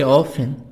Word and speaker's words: often: I always, I almost always, I usually, I often, T silent.